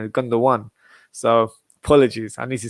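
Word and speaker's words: Gündoğan: watching my old episode oh it's not gundam gundam one so apologies i need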